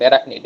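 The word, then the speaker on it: arachnid: এখানে কিন্তু সিএইচ এর উচ্চারণ ক কিংবা ক্ষয়ের মতো, অ্যারাকনিড। হ্যাঁ, শুরুতে উচ্চারণ হলো অনেকটা ক্ষয়ের মতো হয়, আর মাঝখানে থাকলে অনেকটা কয়ের মতো হয়।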